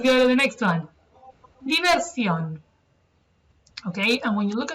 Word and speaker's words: Diversión: Diversión. Okay, and when you look at the word, you may be tempted to pronounce it diversion, but that is in fact something completely different.